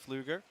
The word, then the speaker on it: Pfluger: Double leg scores 3 points here against Pfluger. It's a very good German pronunciation there, son.